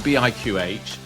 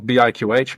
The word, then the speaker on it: BIQH: So it's not BIQH, but it's BIQH actually. Right. So it's spelled BIQH, but you say it as BIQH.